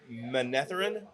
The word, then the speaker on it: Manetheren: it how shadar logo no no no i'm sorry it's manetheren oh they're old city yeah monetarian yes i believe so then how do you